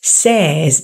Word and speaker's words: says: Mình nhìn cái từ the forecast says, đúng không? Mình nhìn cái từ đó mình đừng đọc là say, mà giúp Thủy nó là âm e. Says, says.